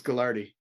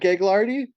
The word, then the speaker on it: Gaglardi: do you say it it's gardi it's not gaglardi no it's gardi oh I've been saying